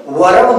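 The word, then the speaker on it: verb: इसी तरह से यहां पर आर का प्रोनाउंसिएशन नहीं किया जाता, ये वर्ब नहीं होता। वर्ब नहीं बोलते इसको, वर्ब। क्या बोलते हैं? वर्ब, ठीक। ध्यान देंगे इन सब चीजों को, बहुत ही बेसिक चीजें हैं।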